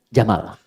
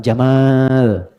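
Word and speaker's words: جمل: namanya Jamal saya noti ya pendek bacanya Jamal bukan Jamal jamalun unta Jamal ganteng oke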